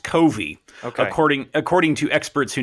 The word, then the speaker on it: Covey: I'm going to pronounce it Covey. I'm not sure if that's the correct pronunciation. It's actually pronounced Covey, okay, according to experts who know these sorts of things.